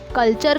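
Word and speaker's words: culture: और एक एग्जाम्पल है कल्चर का, यहाँ टी के बाद मैंने यू आर ई लगा दिया, देखो यू आर ई लगा दिया तो यहाँ मैं कल्चर बोलूँगी, ठीक है। टी का उच्चारण च हो जाएगा, ठीक है, क्वेश्चन।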